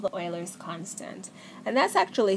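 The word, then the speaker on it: Euler: quite often called the Oilers constant and that's actually spelled e u l e r it's pronounced Oiler not uler and the letter for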